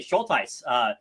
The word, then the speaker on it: Schultheiss: But you did it perfectly, Schultheiss. Yes, I would say shoal, like a shoal of fish, like a school, like a shoal of fish. And then Tice rhymes with dice.